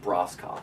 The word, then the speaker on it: Broscoff: So, but if you want to spell it properly, it's Broscoff, or Bros. Take off the 2 E's.